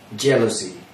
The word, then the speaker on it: jealous: Jealousy, el celo.